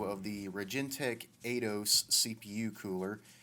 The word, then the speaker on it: Aidos: the rage in tech a dose cpu cooler it's kind of funny this is the second time recording this audio because I kept pronouncing it adios a little bit of